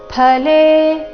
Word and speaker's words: ಫಲೇ: ಬಂದಿರೋಣ ರಸ್ವ ಬರಬೇಕು ಕಾಮಕಾರಿಣ ಫಲೇ ಇಲ್ಲಿ ಫ ಅಲ್ಲ ಫ ಈ ರೀತಿ ಉಚ್ಚಾರಣೆ ಮಾಡಬೇಕು ಫಲೆ ಸಕ್ತೋ ಸ ಮೇಲೆ ಆಘಾತ